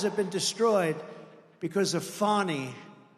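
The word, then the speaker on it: Fani: it fonny it's called Fanny you have to pronounce fonny I don't know how she get she should add a little u in there someplace if she wants people to call her now her and her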